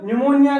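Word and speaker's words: pneumonia: पी से बन गया प्लूरो और पी से बन गया न्यूमोनिया, इसके अंदर पी साइलेंट रहता है।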